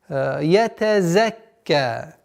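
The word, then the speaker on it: يتزكى: Зай. Четкое произношение, звонкое. Ятаз. Так как узай относится к свистящим звукам. Ятазакка. Удваиваем звук каф, потом с фатхой и удлинение в размере двух огласовок. Ятазакка. 18 аят.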